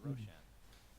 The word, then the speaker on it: Roshan: late Society that's right Roshan is actually a word in Farsi which is why I pronounce it Roshan it's bright which is